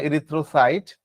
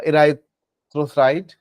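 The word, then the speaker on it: erythrocyte: হ্যাঁ, ইরিথ্রোসাইট বা ইরাইথ্রোসাইট একটা উচ্চারণ করলে হচ্ছে।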